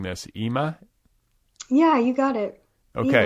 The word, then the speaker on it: Ima: So I want to talk to you about, and forgive me if I'm mispronouncing this, Ima? Yeah, you got it. Okay. Ima.